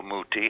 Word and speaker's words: Muti: the Chicago Symphony uh his name is Ricardo Muti he he pronounces it the Italian way I pronounce mine the